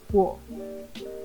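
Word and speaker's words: を: As a particle, O may get a slight inflection or accent when in a sentence, but I wouldn't call it a different pronunciation. Though in music or poems, and depending on the region in Japan, you might hear it sometimes pronounced clearly as wo.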